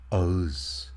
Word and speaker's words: Ağız: As you see, yumuşak G is the second letter of this word, and we barely pronounce it. There is a swift transition to the next letter while we utter this letter.